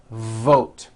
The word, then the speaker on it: vote: V sound too short let's look at the word vote you've got to stretch out the V like this V vote V vote are you hearing that long V sound that's what you should be doing now depending on your